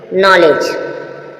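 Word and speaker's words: knowledge: जी से पहले डी आए तो क्या है साइलेंट है अब देखेंगे नॉलेज नॉलेज देखा आपने नॉलेज यहां भी ज हुआ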